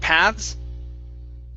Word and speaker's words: paths: third path between ropes this is going to be a voiced th paths paths path i tried to but it's really hard for you to hear paths uh paths path path yeah the trick is getting to that s afterwards so you have to bring your tongue back into your mouth and point the tongue downwards okay towards the bottom